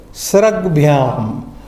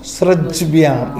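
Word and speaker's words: स्रग्भ्याम्: What happens if you take Sraj as it is pronounced? Srajbhyam. You again pause there. Srajbhyam. No, mouth not conveniently coming. Sraj bhyam. You pause there. Srag bhyam. Understand? That is the phonetical.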